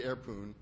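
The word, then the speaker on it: airpwn: know there's this utility airpoon uh which i pronounce poon because there's no o in poon so i and i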